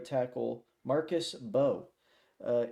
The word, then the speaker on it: Mbow: Makers right tackle Marcus Bo uh it is pronounced Bo not bow. I was going to come on here and and say bao before I did my research.